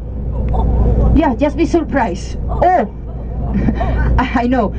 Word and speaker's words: eau: If you want to order water, water in French is eau. Yeah, just be surprised. Eau. I know. Written down is different because French writes down differently as they pronounce.